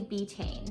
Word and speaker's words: betaine: The second ingredient that they use is actually betaine, and I hope I'm saying that right. It's spelled B-E-T-A-I-N-E.